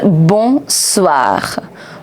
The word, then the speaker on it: bonsoir: Alright, so next word is bonsoir. Bonsoir, good evening. Bonsoir. You already know the pronunciation of bon.